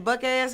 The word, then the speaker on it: Buck Azz: Buck ass naked. It tastes so good it make you get out your clothes. Yeah. And it's spelled Buck AZZ. Buck ass had to make it, Yeah.